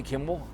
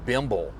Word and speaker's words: Kimmel: He's He's talking about Jimmy Kimble and calling him Bimble. There's no B in there.